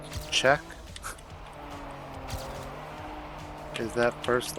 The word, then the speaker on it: Czech: I was zooming oh is that why it's pronounced check is that first letter let see with a